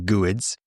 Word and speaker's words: GUID: So the sin is when those GUIDs or some people pronounce them goods are changed either when